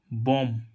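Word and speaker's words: bomb: ऐसे ही इसमें देखें बी ओ एम बी बम बम क्या होता है बम तो इसको बम नहीं पढ़ रहा है क्या नहीं पढ़ रहा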